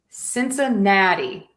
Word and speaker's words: Cincinnati: Cincinnati. Cincinnati Cincinnati Cincinnati. So here again I am adding that D because this is more of a flap T.